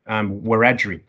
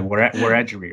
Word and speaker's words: Wiradjuri: My mob from there, Wiradjuri, just correcting you on your pronunciation at the front end there, Wiradjuri, right?